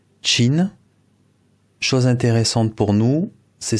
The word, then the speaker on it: Qin: à la dynastie alors ça s'écrit Q i n mais ça se prononce Chine chose intéressante pour nous